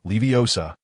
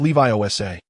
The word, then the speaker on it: Leviosa: Wingardium Leviosa Hermione quickly succeeded in making her feather float elegantly, earning the professor's praise.